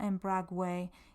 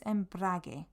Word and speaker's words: embrague: When a G and a U come together with an I or an E, it's a hard G. So it's not embrague, it's embrague, embrague.